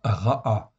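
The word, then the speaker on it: רעה: Donc ra'a, il y a un kamatz en fait en plus et un et en fait ici, ça se prononce ra'a, qui exprime d'abord le féminin du mot ra en fait ici.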